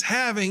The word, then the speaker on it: halving: I'm like, it's halving. It's absolutely not halvening.